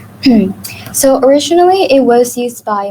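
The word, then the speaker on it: 草: And some examples include the character for mountain, where the onyomi is sang, and kuyomi is yama. And for grass, the onyomi is so, and the kuyomi is kusa.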